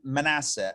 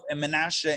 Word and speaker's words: Manasseh: we go thank you so i think in the english it's pronounced jeroboam ahab and manasseh however it's menasha in the hebrew i'm gonna alternate back